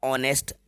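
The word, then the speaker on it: honest: बच्चों ये जो वर्ड है ऑनेस्ट, इसमें एच साइलेंट है। एच को साइलेंट करके आपको रीड करना है, तो इसको रीड किया जाएगा ऑनेस्ट।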